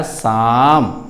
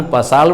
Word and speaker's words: psalm: अब उसका उच्चारण रियल वे में आया, रियल उच्चारण आया शाम। तो PSLM का उच्चारण पसाल में नहीं, शाम।